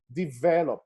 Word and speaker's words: develop: on the final syllable for example in the word develop develop so the stress is on the second syllable develop developing developing so you